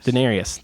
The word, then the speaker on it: Daenerys: Daenerys.